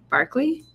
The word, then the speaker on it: Barclays: barlay the barlay Barkley you say it Barkley Barkley like the dog on Sesame Street that's how you say it idea what that